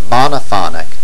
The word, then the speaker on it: monophonic: terms of syllabic accent monophonic accent on the first syllable and monophony Accent on